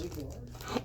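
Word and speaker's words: Cliegg Lars: Brian said she married Clig Lars, I believe. Clig Lars. Clig Lars.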